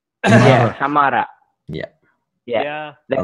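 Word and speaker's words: हमारा: I mean, the word originates from Hindi, and actually, the accent is a bit different. We say Hamara. With rolled R. Hamara. Yeah, Hamara.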